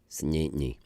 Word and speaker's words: St. Anthony: the simplest things like the name st. Anthony becomes st. knee its knee and knee and it just becomes like it's one syllable and I just